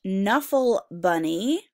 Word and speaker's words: Knuffle Bunny: W and we have Knuffle Bunny it sounds like an end but what letter does it start with okay because sometimes okay and then in work together cool and it's a silent K and we have Leonardo